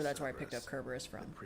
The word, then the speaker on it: Kerberus: So the the Kerberus versus Cberus thing. Um there's no soft C in ancient Greek. Uh anything that's written with a C was pronounced with a K.